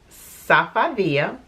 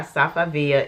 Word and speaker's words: Safavieh: it's made by some sapphire i think i pronounced it wrong on the last video but it's actually made by safavia and they make rugs